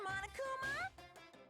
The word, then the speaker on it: Monokuma: average cardboard cutout what I mean right Mr Monokuma it's Monokuma not mono okay I'll still say